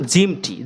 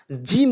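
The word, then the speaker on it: جيم: অনেকে জিম বলে, জিম হবে না তো, জিম বলতে হবে।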